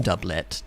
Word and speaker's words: doublet: It's pronounced doublet. So there you go. Like a double.